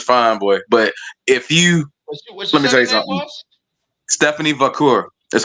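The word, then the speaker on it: Stephanie Vaquer: Aden Julia and Stephan is I believe it's Stephanie vur it's Stephanie vur is how you is how you say her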